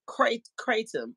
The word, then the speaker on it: kratom: Okay, pronounced Kratom. See y'all feel me. Y'all know I'm slim slow with certain words. It's pronounced Kratom.